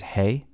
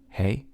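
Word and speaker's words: הא: Then we have this right here is Hey, Hey, exactly the sound that, the stuff that you would feed to horses.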